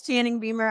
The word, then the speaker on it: Channing Beumer: y'all I'm just joking it's Channing my name is Channing Beamer I'm the uh founder